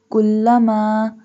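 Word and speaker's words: كلما: Kullama. Kaf. This one kaf pronounced softly. We doesn't bold this kaf.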